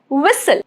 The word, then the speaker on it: whistle: Silent in words ending in s l e like whistle. T is silent.